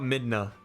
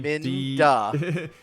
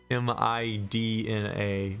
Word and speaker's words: Midna: Minda. Is it Minda or Midna? M-I-D-N-A.